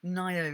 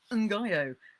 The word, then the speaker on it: Ngaio: And Nio is spelled Ngaio, which is quite an unusual spelling, and I always used to say Ngaio, which was clearly wrong.